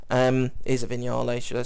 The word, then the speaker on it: Vignale: is the previous one that his was a vignale um is a vignale should I say apparently that's how you pronounce that word I've always I always thought